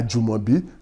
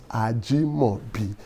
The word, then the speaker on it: Ajimobi: Some people mispronounce it and they say Some people will even say I Ajumobi. No, that is not the meaning of that name. The name means Ajimobi and Etu Jito Moibi.